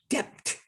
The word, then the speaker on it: debt: doubt uh get what he should pronounce debt d-e-t not d-e-b-t they abbreviated me this